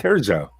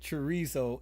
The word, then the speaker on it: Terzo: Terzo. Oh, shit. Jade, you're gone. What? You used to pronounce it chorizo, and Jade never let me live that one down.